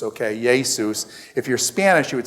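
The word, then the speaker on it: Ἰησοῦς: name is I teach Greek and stuff it's yay Seuss okay yay Seuss if you're Spanish you would say hey soos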